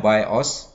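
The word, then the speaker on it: BIOS: बायोस को pronounce किया जाता है बायोस, और इसको हम समटाइम्स बायोस बोलते हैं, रोम बायोस बोलते हैं, या पीसी बायोस बोलते हैं।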